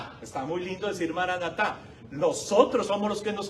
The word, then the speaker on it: maranata: expresión maranata maranata maranata pero no decían maran atá o maran espacio atá lo decían juntito maranata maranata está escrito